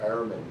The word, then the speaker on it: Ehrman: Let me drop a name for an author for you to check out, Bart Ehrman. Ehrman's the way you pronounce it, but it's E-H-R-M-A-N, Ehrman.